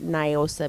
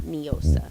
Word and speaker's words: NIOSA: NIOSA I pronounce it NIOSA because it's night in Old San Antonio not neosa but let's not get